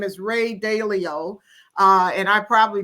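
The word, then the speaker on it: Dalio: I listened to um his name is Ray Dao uh and I probably pronounced his name wrong but a l IO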